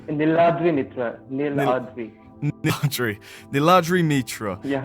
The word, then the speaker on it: Niladri Mitra: I have with me the wonderfully honest, I hope I don't butcher the pronunciation of your name, Niladri Mitra. Is that correct? It's Niladri Mitra.